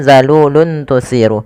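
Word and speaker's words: ذَلُولٌ تُثِيرُ: Zalulun tusirul ard. Pada lafal luntu di sini ada dhammatain bertemu dengan huruf ta, maka cara membacanya samarkan suara tanwinnya kepada huruf ta, bukan zalulun tusiru, tapi zalulun tusiru, yaitu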